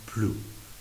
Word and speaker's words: plus: نون پلو، چون در واقع اینجا ما یک سانس نگاتیو داریم، معنی منفی داریم، اس تلفظ نمیشه.